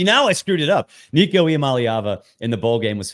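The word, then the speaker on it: Nico Iamaleava: don't know what we're going to get from Nico malava and yes I am pronouncing it right because people who do that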